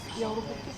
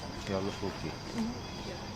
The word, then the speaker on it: joulupukki: Joulupukki. Joulupukki.